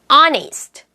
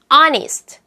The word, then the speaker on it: honest: 자, 이제 H가 묵음이 되는 소리. honest, honest, hour, hour, when, when.